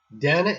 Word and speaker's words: Dana: people mispronounced it and she said Danna is spelled with two ends makes sense ha DNA cannot be pronounced data in English sorry even though some